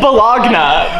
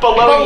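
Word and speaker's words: bologna: That doesn't even say Balunga, it says Balogna. But it's pronounced Baloney.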